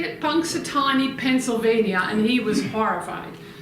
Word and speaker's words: Punxsutawney: Punxsutawney, Pennsylvania, and he was horrified.